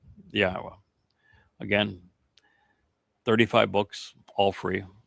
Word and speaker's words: Yahweh: He happens to be the fellow that reintroduced Yahweh's name and proved that it is pronounced Yahweh.